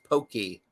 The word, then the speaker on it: poke: It's pronounced pokey.